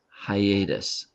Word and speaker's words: hiatus: This word is pronounced hiatus.